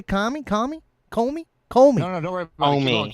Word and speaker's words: Comey: And it's Comey. Comey. Uh, the only reason why I'm saying kami is because I'm Hispanic and uh I try to pronounce names uh in Spanish instead of uh English.